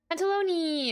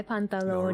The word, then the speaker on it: Pantalone: Panalone. I'm kidding. I know that's not how you say it, but I just I like saying it that way. Hi, Pantalone.